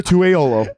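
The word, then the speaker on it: Esera Tuaolo: I can say his name, no problem. Right. Ezra Tuaolo. And then just recently I realized I've been saying that wrong. It's Tuaolo. Yeah. So halfway through, I'm about to say it wrong.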